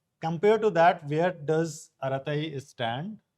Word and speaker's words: Arattai: No, not earth-shattering, but at least pronunciation was a bit easier. Aratai.